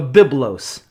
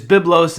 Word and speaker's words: Byblos: Byblos is the Greek pronunciation, or the Greco-Roman pronunciation that we use in English, but you can see